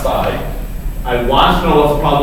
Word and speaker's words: psi: And that thing's pronounced psi.